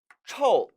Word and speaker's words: 臭: 특히 臭 라는 단어가 나왔으니까 하나 더 말씀을 드리도록 할게요.